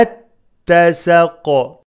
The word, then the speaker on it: اتسق: the lam والقمري إذا اتسق إذا اتسق the alif of اتسق is not pronounced and there is shadda in the ta والقمري إذا اتسق إذا